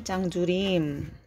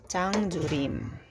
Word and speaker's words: 장조림: Ang pangalan niya pala ay Chang Jurim. Nasa descriptions naman tsaka nasa title ng aking vlog. Pero baka hindi niyo alam kung paano i-pronounce. Chang Jurim.